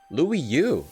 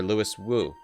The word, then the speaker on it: Louis Wu: Louis Yu. Oh, she thinks we're Louis Yu, who I was pronouncing wrong the whole time. Greetings, friend. You mistake me for Louis Wu.